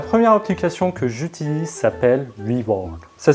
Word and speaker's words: WeWard: de l'argent la première application que j'utilise s'appelle louis borg ça s'écrit w e w ard donc le but